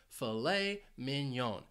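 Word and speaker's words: filet mignon: of the spelling well this is a French word fet minion it's a steak it's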